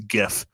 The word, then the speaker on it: GIF: I'm gonna pronounce GIF because I say it's a hard G it's not GIF Craig L if you're still listening it is not JF it's not peanut butter it's a gif I hope there's a